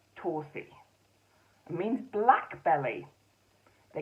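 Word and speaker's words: Torddu: This is Tordu Badgerface, but apparently that's pronounced Torsi.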